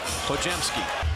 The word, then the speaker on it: Podziemski: Pojemski and friends knocking it away. GP2. It's pronounced Pojemski.